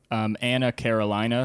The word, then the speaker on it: Anna Carolina: Anna Carolina, sort of like Dana, California, but less Anna glitzy.